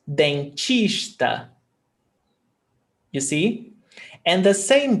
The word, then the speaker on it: dentista: So you're actually saying dentista, not Isso, dentista. It's chista, like ch, not t.